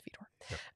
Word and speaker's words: Widor: from his Fifth Symphony, spelled with a W. It looks like Widor, but it's Widor.